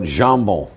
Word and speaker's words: jambon: What about jambon?